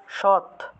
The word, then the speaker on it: সদ: বা এরকম সদ আছে, সদ লেখা আছে, এটা উচ্চারণ, প্রকৃত উচ্চারণ হলো সৎ, ঠিক আছে।